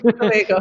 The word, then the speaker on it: Tobago: Yes, Tobago.